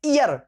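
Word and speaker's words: heir: हियर, इसको पढ़ते ईयर, हियर नहीं पढ़ते, H इसमें साइलेंट है, इसको पढ़ते हम ईयर, ईयर मींस उत्तराधिकारी, तो ईयरएस ESS लगा दिया, ईयरएस उत्तराधिकारिणी।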